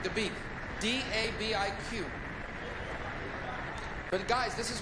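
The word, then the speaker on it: Dabiq: Interesting, a few weeks ago I mispronounced it. I said the city of Dubuque, and people in Iowa freaked out. Dubuque. No, not Dubuque. Dubuque.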